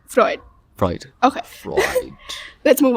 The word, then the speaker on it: Freud: Freud.